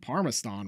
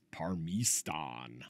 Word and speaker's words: Parmistan: Oh, and we're gonna learn that we've been saying Parmistan wrong the whole time. The proper pronunciation is Parmistan.